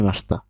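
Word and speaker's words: ました: দেখেনতা আছে মাসিতা। উচ্চারণ হবে মাসতা।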